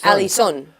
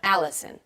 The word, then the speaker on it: Allison: They usually say Alison with an accent on the end. Alison. But how should they say it? They should say Americans say my name Allison. Yeah. Allison.